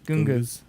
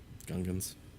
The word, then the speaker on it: Gungan: your head now when you watch Star Wars googas googas like he doesn't even know how to say the name of the alien he made up Gungans yeah goons googas googas it's actually harder to